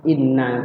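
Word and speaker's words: إِنَّ: Inna itu ada dua nunnya, kita bacanya yang benar kayak gitu tadi, yang benar tuh inna, kita baca asal-asalan innaka asal-asalan.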